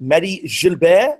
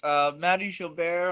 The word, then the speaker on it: Mahdi Gilbert: And right, we would like to officially welcome, is it Mahdi Gilbert? Is that the right way to say it? Yes, it is. Mahdi Gilbert, although here in the US, they often call me just Mahdi Gilbert.